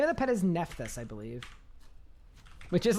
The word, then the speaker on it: Nephthys: You pronounce it Nephthys? I mean, it might be. Actually, unfortunately, it has to be Nephthys because a JMod just said it on a live stream.